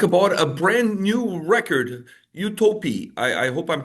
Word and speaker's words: Utopie: I'm here with Martin to talk about a brand new record, Utopi. I I hope I'm pronouncing it correctly.